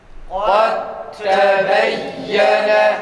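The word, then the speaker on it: قد تبين: قَدْ تَبَيَّنَ Kad tebeyyene. tekrar. Kad tebeyyene. Evet. Demek ki bizim Kur'an-ı Kerim okurken cezimli dalden sonra ta harfi geldi mi böyle okumamız gerekir.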